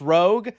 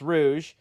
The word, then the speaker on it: Rouge: play Rouge, that I now know is not pronounced Rogue. All my life, I thought Batgirl with them big old dibblies, Sydney Sweeney-looking girl, Rogue Sonic. All my life, I thought this was freaking Rogue, but apparently it's pronounced Rouge.